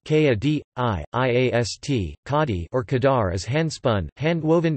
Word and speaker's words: Khadi: Khadi, pronounced K-A-D-I-I-A-S-T, Khadi or Khadar, is handspun, hand-woven natural fiber cloth from Pakistan, India, and Bangladesh, mainly made out of cotton.